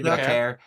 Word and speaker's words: Vaquer: I think how do you pronounce it? Vaquer, Yeah, Vaquer.